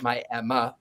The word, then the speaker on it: Miami: the Coleman Theater in Miami, Oklahoma. They call it Miami, Oklahoma, but it's spelled Miami.